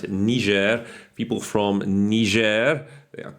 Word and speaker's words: Niger: I think that's how you're meant to pronounce it.